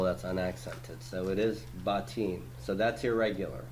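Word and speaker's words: בתים: But did I pronounce it botim? I did not. I pronounced it batim. Batim, because that's how you pronounce it.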